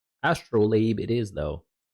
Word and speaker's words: Astrolabe: I thought it was Astrolade. Mis understood, mispronounced. Astrolabe.